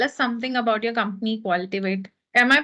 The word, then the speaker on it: Qualtivate: So tell us something about your company, Qualtivate. Am I pronouncing it correctly? Yes, yes, that's correct. Qualtivate, Yeah.